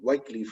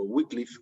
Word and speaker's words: Wycliffe: Uno era Pedro Baldo, que lo vimos porque era de un siglo anterior, pero otro era John o Juan Wycliffe o Wycliffe, como lo queramos pronunciar, y habría otros 2